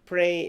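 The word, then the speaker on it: prêt: And during 2004, he was awarded the Best Women's Pré. Pré in French means ready. It's spelled P-R-E-T. Remember that in French, the T at the end of the word is not pronounced.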